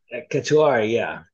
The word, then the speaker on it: Cataura: Yeah, we're gonna do Jimmy the Bomb Cataura. Is that how you pronounce that, Cam? Cataura? Cataura, yeah.